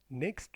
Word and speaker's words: next: I am going to the USA next week. Next week. I am going to the USA next week. Here T is silent.